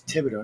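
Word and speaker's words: Thibodaux: this place I said no it's Tibido they're like how do you get that out of there I said it's French it's Tibido that's how you say it it's like llas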